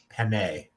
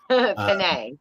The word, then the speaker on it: penne: Penne. I knew you were going to nail me on that one. I knew that. The E in Italian is pronounced with an A. Okay. Penne.